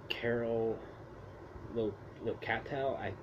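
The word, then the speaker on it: Carol Locatell: Melanie Kinneman, you have Julia Cummins, Miguel Hernandez Jr., Shava Ross, Richard Young, the late Vernon Washington, Deborah Voorhees, Carol Locatel, that's how you say her name, Ron Sloan, Jerry Pavlon, Tiffany Helm, John Robert Dixon, that's pretty much Gerard Fields.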